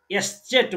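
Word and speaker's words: Eszett: यसलाई हामी यसको उच्चारण चाहिँ डबल एस आउँछ, यसलाई हामी एस्चेट भन्छौं, एस्चेट एस्चेट।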